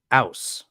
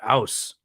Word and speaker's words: Aass: Now they insist that this is pronounced Aus.